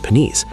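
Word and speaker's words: pniese: To maintain the security of the Confederacy, the Wampanoag developed an elite class of warriors known as the Peenies, pronounced Peenies.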